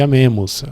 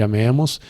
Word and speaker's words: amēmus: E para a sílaba tônica ser a penúltima, necessariamente a vogal tem que ser longa. Então, tanto o A de vivamus como o E de amemus vão ser longos.